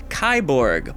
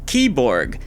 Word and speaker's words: KIBORG: Anyways, I'm going off about cyborgs because today we are reviewing Kyborg. But wait, according to the trailer, it's actually pronounced Keyborg.